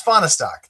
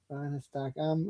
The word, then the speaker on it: Fahnestock: It's FAHRESTOCK. That's how you say it. FAHRESTOCK.